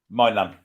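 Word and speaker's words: Maignan: or wherever his name is how are you pronouncing that Keeper's name minan minan as in minan okay fair enough uh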